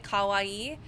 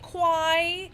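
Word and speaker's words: kawaii: Uh, I knew somebody who would like they again they pronounce it like an English speaker and they instead of saying kawawaii, they would say quai.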